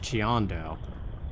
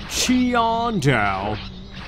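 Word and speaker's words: Qiandao: spelt like qu something or another but it's pronounced chiando or relatively like not that not chionjow you know like the dumbest possible way to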